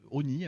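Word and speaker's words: Osny: allé au LEP de Oni à l'époque. Oni, c'est dans le Val d'Oise, pour ceux qui ne savent pas. C'est écrit qu'un S qui se prononce pas, O-S-N-Y.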